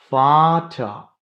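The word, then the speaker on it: Butter: எடுத்துக்காட்டுக்கு புட்டா இங்க பாத்தீங்கன்னா டே ரிப்பீட் ஆகுது அதுக்கு முன்னாடி ஒரு வவ்வல் வருது. புட்ட அப்படின்னு சொல்லும்.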